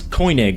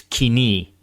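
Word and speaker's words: Koine: The form of Greek that became widely spoken was coin Greek. Uh, actually, it's not co, it's kini. I get this comment all the time.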